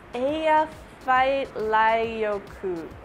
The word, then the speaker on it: Eyjafjallajökull: Last week I asked you how to pronounce the name of some volcano. Thanks, Kai Orange Juice. It's Eyjafjallajökull.